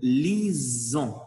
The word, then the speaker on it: lisons: avec nous lisons nous lisons c'est avec le s entre voyelles comme dans ce cas là il faut le prononcer nous lisons vous lisez